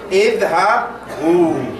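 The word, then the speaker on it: اذهبوا: No, that alif is silent. No, you don't pronounce it. So you say idhabu, meaning go.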